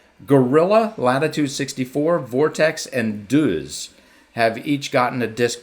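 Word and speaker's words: Deuz: Gorilla, Latitude 64, Vortex, and Duz have each gotten a disc PDGA approved.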